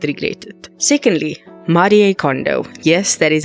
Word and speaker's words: Marie Kondo: Secondly, Marie Kondo. Yes, that is how you actually pronounce her name. It's not Marie, it's Marie Kondo.